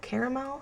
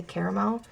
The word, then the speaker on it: caramel: Next up is caramel caramel apple, caramel, however you want to say that. I tend to say caramel, even though phonetically I'm pretty sure you're supposed to say caramel.